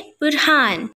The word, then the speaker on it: Burhan: अस्सलाम वालेकुम, आइए जानते हैं बुरहान नाम के मायने और इसकी तफसील। आज का नाम है बुरहान। बुरहान के इंग्लिश में स्पेलिंग्स है BURHAN, बुरहान।